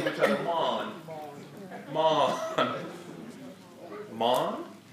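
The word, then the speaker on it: מן: And to pronounce the word manna in Hebrew is mon.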